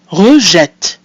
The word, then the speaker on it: rejette: So we have our mute E that comes at the end of the syllable re, followed by an E, followed by a double T, two consonants. So that E is pronounced E. And then finally we have a mute E at the end of the word, which is silent, giving us rejette.